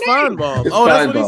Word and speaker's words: Paul Feinbaum: You said Finnebom. Yeah, no, it's Feinbaum.